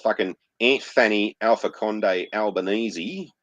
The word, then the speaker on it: Albanese: yeah, and then we got fucking Aunt Fanny Alpha Conde Albanese, which is how you actually pronounce his name, not Albanese, or elbow on his kneesies, because he likes to suck dick, the cunt.